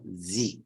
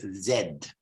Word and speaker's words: zed: in Italian is pronounced Z they say Z well in British English we say zed zed not Z so z i p